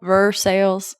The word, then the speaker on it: Versailles: to be very nice it's actually for sales everything is like two syllables here louisville verse sales so when i moved